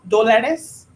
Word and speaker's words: dólares: Cuesta dólares. Dólares. Dólares. Dólares. Mhm. And the emphasis is in the first syllable.